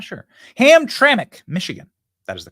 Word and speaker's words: Hamtramck: at peace there's a place called hamr Hamra Hamtramck sorry about that Hamtramck sorry it's a unique it's a unique name maybe it's an Indian name I'm not sure ham traik Michigan that is the correct pronunciation uh this is one of the few